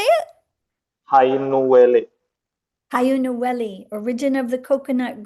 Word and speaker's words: Hainuwele: Hainuwele. How do you say it? Hainuwele.